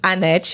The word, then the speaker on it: Hannette: Brazil my name is Annette you I met you so it's like people don't pronounce the H in Brazil so it's like a silent so and I just